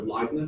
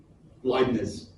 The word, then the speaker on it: Leibniz: Or Leibniz, I think it's pronounced, Leibniz notation.